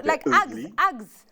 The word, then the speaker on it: Uggs: about ug boots I Uggs yes yes Uggs or the Australians say ugs okay because it's and the British also because it's like ugly it's ug so yes so o boots